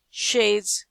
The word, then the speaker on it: chaise: CH. SH like a machine. Chaise, chateau. J.